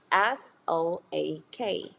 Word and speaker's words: soak: so oh so toes another one is okay s-o-a-k how do you pronounce this I'll let you try it so